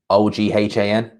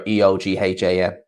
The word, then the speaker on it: Eoghan: And it's like it's spelled like Oghan. Whenever you see someone come like that, they're just like, that's not how you spell Owen. It's like, yeah, in Ireland they spell it like that. It's either Eoin or Eoghan.